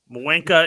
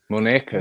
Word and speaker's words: muñeca: No, you wouldn't pronounce the N that way with the little tilde on top. It's a It'd be Muñeca. Muenca. No, Wanker. it's an enye, which is muñeca.